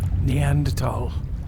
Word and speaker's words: Neanderthal: Neanderthal. It's pronounced Neanderthal.